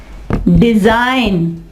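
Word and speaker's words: design: इसके अलावा रिजाइन, रिजाइन, यहाँ पे G साइलेंट। डिजाइन, डिजाइन, और इसके अलावा फॉरेन, फॉरेन, ठीक है, फॉरेन, फॉरेन, फॉरेन, यहाँ पे G जो है वो साइलेंट होगा।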